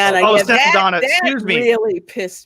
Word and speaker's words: Saldana: I think I pronounced her right. Saldana. Oh, yeah, Saldana.